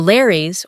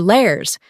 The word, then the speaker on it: Lares: The Lares, or Lairs, were also household gods, but differed from the Penates in being regarded as the deified spirits of mortals.